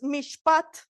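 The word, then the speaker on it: משפט: raíz de mishpaja es mishpat con t final m i s h p a t mishpat y mishpat significa equidad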